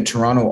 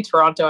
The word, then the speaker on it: Toronto: I think, and I, whenever I say Toronto, I'm like, oh God, some people say Toronto and some people say Toronto. True. I pronounce the T because I was like